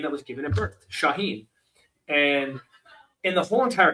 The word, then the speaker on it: Shauhin: And about a year before the filming, I changed that nickname, uh, back to my name that was given at birth, Shaheen.